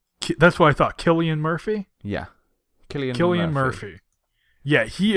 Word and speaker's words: Cillian: It is Killian. That's what I thought. Cillian Murphy?